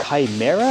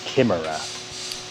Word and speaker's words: chimera: right there we go is it pronounced chimera or kimera uh i think it's chimera chimera okay because in japanese it's kimera yeah as borrowed from